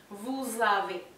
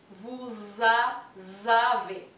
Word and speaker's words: vous avez: Y la S final del vous pasa a pronunciarse como una Z porque está en contacto con la A. Bien. Vous avez. Vous avez.